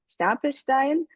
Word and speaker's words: Stapelstein: And we'll hear Stefan's story, being the founder of a company called Stapelstein. I'm going to use the German pronunciation, but I'm meaning Stapelstein.